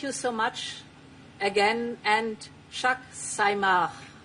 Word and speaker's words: Chag Sameach: Thank you so much again, and Chag Sameach. It could be pronounced better. Chag Sameach. Chag Sameach.